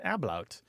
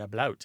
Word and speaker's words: ablaut: The second kind is where there's something called an ablaut, or an ablaut, A-B-L-A-U-T.